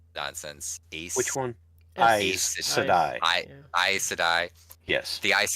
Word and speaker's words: Aes Sedai: It's like, oh, like remind me again how to pronounce nonsense. Which one? Aes Sedai.